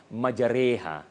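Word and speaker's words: مجريها: Maknanya sebutan yang betulnya adalah majreha.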